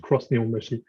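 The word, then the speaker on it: X-NIHONBASHI: I think it's pronounced cross Nihonbashi, right? Written X Nihonbashi, but pronounced cross Nihonbashi.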